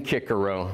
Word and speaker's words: Cicero: more Italian flair and when I'm reading Cicero I'm gonna be reading kicker oh all right I'm doing it with a classical pronunciation when I teach at